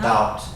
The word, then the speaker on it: doubt: No Doubt. Doubt. Doubt. Yeah, this B actually is silent in that word.